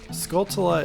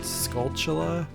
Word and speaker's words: Skulltula: that just stun them Skulltula is another word that I pronounce very differently as a child I think I said sculptula like a t c h action going on sculptula so I haven't fully